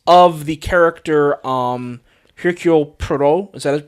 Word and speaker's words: Poirot: And I believe, and it's of the character Hercule Poirot. Is that how you pronounce his name? Poirot.